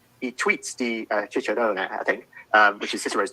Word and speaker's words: Cicero: called I Tweets di Cicerone, I think, which is Cicero's tweets. Although, of course, Cicero would have pronounced his name Cicero because all C's in Latin were hard.